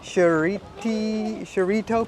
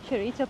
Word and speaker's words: Chureito: And the name of the place that we're going to is a pagoda, and I'm going to try and pronounce it, is Shiraito Pagoda? Chureito Pagoda.